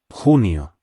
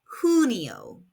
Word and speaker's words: Junio: El verano includes Junio. pronounced junio. In Spanish, the letter J is pronounced like an English H, and the U makes an oo sound. Say it after me. Junio.